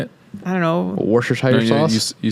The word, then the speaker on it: Worcestershire: Worcestershire sauce? You say it again. You said it right. Well, now I'm afraid to say it again because I'm going to say it wrong. Right. Worcestershire?